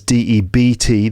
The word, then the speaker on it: debt: you have debt that's D EBT the B is silent debt it means that